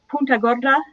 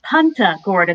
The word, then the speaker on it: Punta Gorda: that town in florida punta gorda that's why they pronounced that's why they pronounce it punta gorda they anglicize it because if you mispronounce it and say puta gorda you just said fat horse so mm-hmm yeah yeah